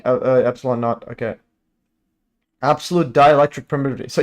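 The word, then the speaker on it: ε₀: Denoted E naught, pronounced epsilon naught or epsilon 0, is the value of the absolute dielectric permittivity of a classic vacuum.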